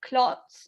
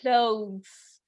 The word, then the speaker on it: clothes: Also, one thing about pronunciation, I hear you all basically often say clots or something like that. So that can be misunderstood. Perhaps try and say it like in a softer way. It would be like clothes.